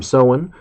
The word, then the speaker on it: Samhain: Halloween yeah we use the old Celtic term soin which looks like it's spelled Samhain don't worry if you